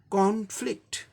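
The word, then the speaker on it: conflict: है, यानी first syllable को जोर दे के प्रोनाउंस करना है। कॉन्फ्लिक्ट, कॉन्फ्लिक्ट, कॉन्फ्लिक्ट, ये ब्रिटिश में हो गया।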